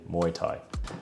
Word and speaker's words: Muay Thai: Here are 3 underrated things that can help your Muay Thai training as a beginner. Didn't say it right again. Muay Thai.